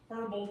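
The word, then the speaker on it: Herbault: Herbald. Yeah, it's spelled like herb alt.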